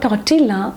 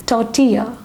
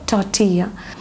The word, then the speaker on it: tortilla: How do you pronounce this word? It's not tortilla, it is tortilla. I repeat the word tortilla.